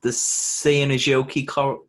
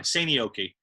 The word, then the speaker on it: Seinäjoki: Yeah, I think the J is silent J. Silent. Yeah, kind of silent. It's more like a Y. Seinäjoki.